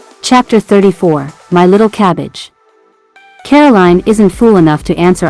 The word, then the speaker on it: Caroline: as a Nantucket afternoon Caroline he says emphasis on the last syllable which he always pronounces as bleen hey she says she